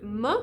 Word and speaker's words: me: or him or it you're going to do it in a word ma which is me or to me you're going to do it in so practice with me i mean try and make it as non-vowel as